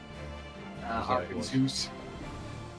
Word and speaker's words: Arkansas: Well, that's exactly how it's spelled. I know. But it's not spelled O-U-R, Kansas. Which pronounced should be pronounced. Arkansas.